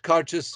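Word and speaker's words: Càirdeas: then the one I've got here and it's pronounced conscious exactly the way it's spelled CAIR d EAS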